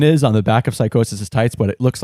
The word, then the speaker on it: Psychosis: Psychosis. I'm so glad you pronounced that because the spelling, I would never have guessed.